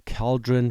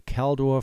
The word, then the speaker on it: Caldor: I apparently have a hard time pronouncing this name correctly, so all the people on the news call it the CALDOR fire. I called it the cauldron fire yesterday for whatever reason. So it's the CALDOR fire, and that's what